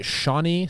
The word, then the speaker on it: Shawnee: and then we play shawnee state university of ohio i'm probably saying that name wrong no that's right shawnee sean sean okay